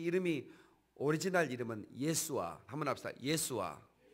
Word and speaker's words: 예수아: 거기서 아자만 뺐지 요수아라는 그런 발음이기도 하고 예수아가 아주 오리지널 발음입니다.